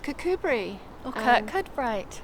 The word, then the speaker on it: Kirkcudbright: So, um, today we're in, um, a town in the west of southern Scotland called Cubri or Kurt Cutbrite. It's spelled Kirk Cutbrite, but it's pronounced Cubri.